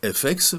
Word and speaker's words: FX: FX, en anglais, ça se prononce FX, comme le mot anglais effects, pour effet.